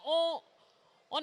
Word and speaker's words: eau: Exactement, O. C'est tout à fait logique, on a déjà 3 voyelles, E, A, U, on en a quand même besoin d'une 4e pour pouvoir prononcer le mot.